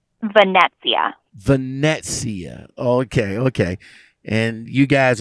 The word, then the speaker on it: Venezia: let me ask you this how do you pronounce the name vanessa vanessia okay okay and you guys are the the